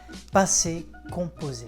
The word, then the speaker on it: passé composé: Passé composé, that's how you say it in French, le passé composé.